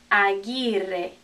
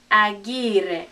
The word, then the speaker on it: Aguirre: nope cruz cruz cruz probably the hardest one of all because it looks so strange to our english-speaking eyes is aguirre aguirre remember this is you